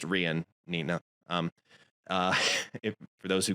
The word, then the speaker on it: Rian: and it's pronounced Rian, Nina.